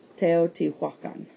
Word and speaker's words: Teotihuacan: And it's actually pronounced phonetically, really, based on how it's spelled. Teotihuacan.